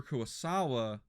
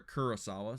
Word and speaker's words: Kurosawa: a samurai instead of a cowboy and akira kuasawa or akira kurosawa sorry i will pronounce his name right he deserves it um